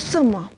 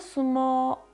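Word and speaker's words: sumō: obżarstwie czuję się jak sumo tak też wyglądasz podobno sum prawidłowa japońska wymowa to o na końcu jest przedłużone jaon dosłownie narodowa sztuka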